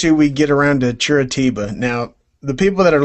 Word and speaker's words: Curitiba: How do you pronounce it again? Curitiba. Curitiba.